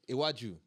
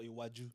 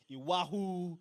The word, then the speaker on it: Iwaju: Yo, I've heard some people saying some what Iwahu.